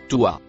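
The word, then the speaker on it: طوى: Le mot écrit en violet se prononce toi.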